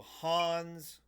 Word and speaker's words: Hans: Just Hans of the Southern Isles. So Hans rhymes with bronze and it is apologies.